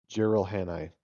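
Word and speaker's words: Jiralhanae: Gerald Hanni.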